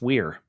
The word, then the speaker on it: Wear: It's Weir. Nope, it's not Where. No, it's Weir. I'm like, it's Weir.